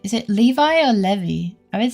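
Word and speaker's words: Levi's: Is it Levi or Levy? I don't remember which one I said first. Germans pronounce it lavi.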